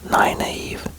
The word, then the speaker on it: Nynaeve: I don't know, it's pronounced Naive.